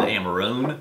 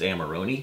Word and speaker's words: Amarone: I had said Amarone before we learned it in there. Scotchology corrected us and said it's Amarone.